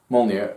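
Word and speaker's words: Mjölnir: called more near the J is silent Mallya um flies over and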